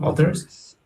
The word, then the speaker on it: otters: We hope some of the area's rich diversity of wildlife, seals, otters, I don't remember exactly the pronunciation, otters, Otters.